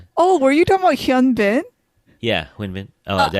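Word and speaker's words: 현빈: but he is, Gong Yu is 6 and Huin Bin is 6'1". According to my sources. I've never seen these. They're all tall, but Oh, were you talking about Hyun Bin?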